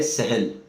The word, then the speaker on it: سہل: کے لیے وہ ہے سہل۔ سین چھوٹی ہے، لام، سہل۔ کہیں اس کو ڈکشنری میں اس کا تلفظ سہل بھی لکھا ہوا ہے، لیکن عام طور پر ہم سہل بولتے ہیں۔ سہل کا مطلب ہوتا